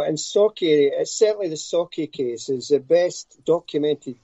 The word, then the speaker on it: Sauchie: new book called the sochi poltergeist have i said that right malcolm um no it's actually sake so if you break up an s-a-w you saw then key k-e-y sake that's just that's how